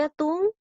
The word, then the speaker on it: atún: nos damos cuenta que atún lleva la mayor fuerza de voz se da sílaba atún es aguda y está aguda está